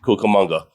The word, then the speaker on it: Cucamonga: It's a $12 billion high-speed rail from Las Vegas, not to Los Angeles, but to Rancho Cucamonga. Did I pronounce that correct? Yes, Cucamonga.